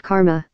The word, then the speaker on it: Karma: the system he indicted you know what they say about Karma as Barbara Bush said of Hillary Clinton it rhymes with Ridge